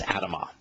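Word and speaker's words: אדמה: and ground here is Adama it's written the same way as Adam with the addition of the Hebrew he which is pronounced ah at the end of the word typically the ah makes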